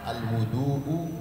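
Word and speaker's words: الوُضوء: Jadi ada perbedaan antara al-wudhu dengan al-wadu'u. Kalau wu berarti wudhu, tapi kalau wa itu berarti medianya yang digunakan untuk berwudhu, berarti air, ya.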